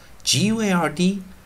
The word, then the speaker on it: guard: guard guards guards guards，以及我们的